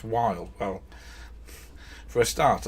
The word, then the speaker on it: Wilde: that um you know you start there going how can you mispronounce wild well for a start